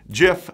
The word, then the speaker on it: Jif: jiff Schmucker said quote jiff said with a soft G is America's number-one peanut